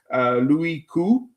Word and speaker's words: Louis Koo: It stars Louis Koo. I got that from James from Policiutetsky and Jolly Reviews. Louis Koo is the name, is the right pronunciation.